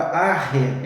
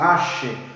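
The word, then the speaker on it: ἀρχή: A palavra princípio, a palavra arre, é a palavra grega, outros pronunciam ashe, como por exemplo no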